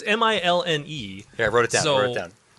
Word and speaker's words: Milne: It's Milne.